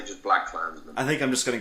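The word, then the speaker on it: BlacKkKlansman: I think it's Black Klansman, but it's just really stylized with that extra K in there. Yeah. I don't know. I think it sounds better to say just Black Klansman.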